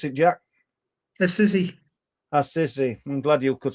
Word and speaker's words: Assisi: How do you pronounce it, Jack? Assisi.